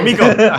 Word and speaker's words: Miko: Is it Miko or Miko? Basta Miko, yun na lang. Oh, okay, Miko.